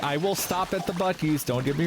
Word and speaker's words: Buc-ee's: they stopped at a Buc-ee's on the way there. And my dad kept pronouncing it Bussies, and I was like, nope, that's not it.